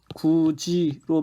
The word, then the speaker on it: 굳이: 발음은 어떻게 합니까? 구지로 발음을 합니다. 하지만 쓰는 것까지 구지로 쓰게 되면요, 쓰는 것도 구지로 쓰면 안 됩니다. 음은 변동이 일어나지만 쓰는 것은 표기는 그대로 굿이로 써야 합니다.